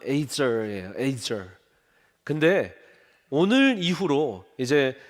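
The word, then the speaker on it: עזר: 에제르. 정확한 발음은 에이저예요.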